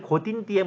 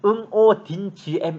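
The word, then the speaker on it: Ngô Đình Diệm: 대통령 고 딘 디엠 사실 고딩 bm 은 영어식 발음 이고 실제 현지 발음은 끊고 틴 gm 입니다 한자를 쓰면 5 정엽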